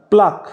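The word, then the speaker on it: pluck: যে ভ্রু প্লাগ করেছে অনেকে প্লাগ বলে প্লাগ নয় কথাটা প্লাক মানে ভ্রুগুলোকে উপরে ফেলা হয় ঠিক আছে সেরকম ধরো কোন গাছকে তুমি উপরে ফেলছো সেটাকে বলা হয় প্লাগ মানে বানানটা হচ্ছে পি এল ইউ সি কে ঠিক আছে উৎপাদন হচ্ছে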